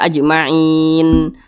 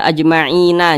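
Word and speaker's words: أجمعين: dalam sekali bacaan ajmain Nah maka dibaca ajmain jangan dibaca ajmaina jangan tapi dibaca ajmain nah seperti itu mana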